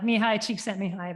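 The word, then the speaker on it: Csikszentmihalyi: staying in flow uh me hi cheek sent me high that's how I pronounce it don't ask me to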